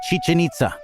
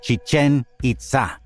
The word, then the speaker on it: Chichen Itza: by its correct name most people say Chichen with the accents on the first syllable of both words the name is Chichen accented on the second syllable and we'll use that pronunciation from now on out of respect for the people of the Maya culture who live in our